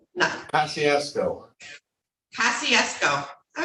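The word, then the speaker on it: Kosciusko: How do you pronounce that? Couscous? No, Kosciuszko.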